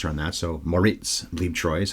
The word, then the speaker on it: Bleibtreu: here Monica BB Troy and I got to pronounce her on that so Moritz BB Troy is how you say his name apparently but